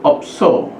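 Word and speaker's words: 없어: kata kedua Oh ya Ini bacanya adalah opso opso artinya tidak ada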